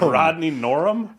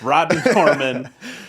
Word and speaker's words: Rodney Norman: I said Rodney Norum? Wow. Wow, we'll cut that, or you'll keep it in. It's not a tough name to pronounce either. Rodney, you know him. I know his name. Rodney Norman.